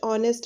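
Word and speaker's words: honest: है ही is dash ऑनेस्ट मैन तो यहां पे आ जाएगा एन तो यहां पे ए इसलिए नहीं आया क्योंकि जो है यहां पे एच जो है वो साइलेंट है।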